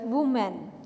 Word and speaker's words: women: हुआ है कि एंड सेकंड वर्ड इस हेयर वूमेन वूमेन होती औरत लेकिन जब हम इसको प्लूरल